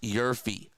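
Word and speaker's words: YRFI: Okay, I took a Nerfy, or you can take a YRF, yes run first inning, pronounced Yerfy.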